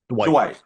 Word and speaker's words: Dwight: no, but you know, It's like one syllable though. Really, it's Dwight.